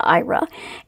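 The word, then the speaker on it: Aira: And so I have been with IRA, which is oddly enough how you pronounce it. Doesn't look that way, but it is pronounced IRA.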